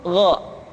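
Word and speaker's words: غ: Yang selanjutnya adalah huruf Gha. Diucapkan seperti kita mengucapkan huruf Kha, yaitu diucapkan dari pangkal tenggorokan kita. Yang membedakannya adalah Kha mengalir nafas dan Gha tidak mengalir nafas.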